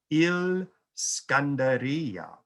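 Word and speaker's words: الإسكندرية: They call it Il Skandaria, which is just the Arabic pronunciation of Alexandria.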